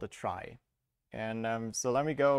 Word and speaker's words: trie: uh awkward naming convention it's spelled like in retrieval but pronounced like try to not have another